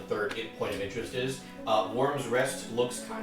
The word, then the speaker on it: wyrm: Worm's Rest looks like a big square instead of an alcove. And you misspell it instead of WORM, it's WYRM. Which is worm, just the wrong kind of worm.